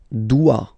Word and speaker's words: dois: Je dois. Okay, remember, final S is not pronounced. Je dois. O-E, when you combine the two, you get the sound wa wa wa.